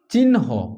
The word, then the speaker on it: চিহ্ন: চিহ্ন আগে দন্তন্য পরে হচ্ছে হ।